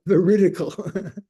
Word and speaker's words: veridical: Okay, not vertical, veridical.